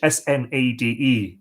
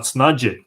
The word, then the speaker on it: Snade: So how do you pronounce in Irish S-N-A-D-E? You would think it's Snade, but it's not. Snadje.